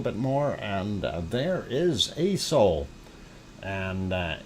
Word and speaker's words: Aso: more and there is a soul and uh aso is the way it is spelt it is a soul sand and that is